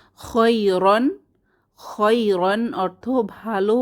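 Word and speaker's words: خَيْرًا: নরম ইয়া খৈরন রন শেষে খালি আলিফ এটা উচ্চারণে আসবে না খৈরন খাইরন অর্থ ভালো বা উত্তম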